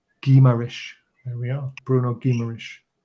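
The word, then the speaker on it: Guimarães: Speaking to my former father-in-law who lived in Brazil for 15 years, it's pronounced Guimaraes.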